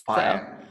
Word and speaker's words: Pion: So I hope I pronounced it right, like Pion. Pion, you were so close. Pion. Yeah. In Serbia, we basically pronounce everything as it is written.